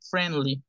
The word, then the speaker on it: friendly: error de decir friendly la i no suena es friend friendly What is friendly amigable